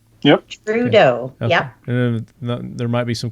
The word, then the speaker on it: Trudeau: name right is that how you say it trudeau yep trudeau yeah there might be some kind of french